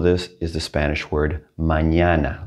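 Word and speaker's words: mañana: with a squiggly and it's going to be pronounced like the first n in onion like that sound a good example of this is the spanish word manana like manana all right we're not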